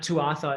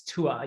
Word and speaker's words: Tuatha: mispronounce it it's not tuatha it's tua you don't say the second part of that if you're pronouncing it in irish i think so yeah